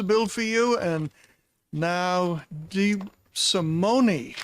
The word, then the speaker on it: DeSimone: The vice chair kindly introduced the bill for you, and now DeSimone. It is Italian. We pronounce every letter. Not to be confused with French, where we skip some of them, right?